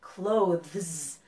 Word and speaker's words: clothes: have asked me well it's really hard to make the th sound and then the z sound clothes it's kind of difficult